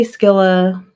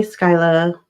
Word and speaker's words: Skyla: I say Skilla, people say Skyla. It can be pronounced either way.